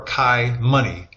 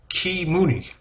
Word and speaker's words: kiMuni: people might read and see as ki or kai money, is actually pronounced kiMuni.